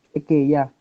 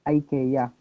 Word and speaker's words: IKEA: So yung sa pag-pronounce pa lang po ng IKEA, we have two different pronunciations. So if you're in a Swedish country or if you're in Sweden, they pronounce it as IKEA.